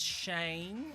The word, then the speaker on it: Cheyne: Her name is Cheyne, or Cheyenne. It's like Shane, but it's spelled with a CH.